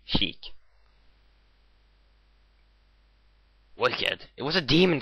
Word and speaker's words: Sheik: Yes, I finally know how his name is pronounced. Sheik.